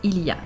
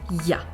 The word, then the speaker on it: il y a: ways to pronounce it the first one is where you pronounce everything that's standard french one that will pass anywhere and any time the second way is ya sometimes spelled y apostrophe